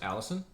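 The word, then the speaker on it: Allicin: I say it wrong I'm pretty sure it's pronounced Allison Allison is the primary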